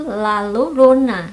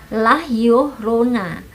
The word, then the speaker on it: La Llorona: hantu lah youna Nah sebenarnya kalau tulisannya sendiri itu lalu Rona tapi ternyata cara membacanya itu lelah Yuh Rona lahir oronine itu sebuah